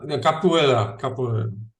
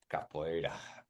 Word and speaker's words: Capoeira: No, Cavaleros or no, Capoeira. Capoeira.